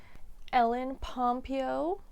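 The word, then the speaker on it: Ellen Pompeo: I didn't know quite a few of these ell pompo that's how you say her name uh Meredith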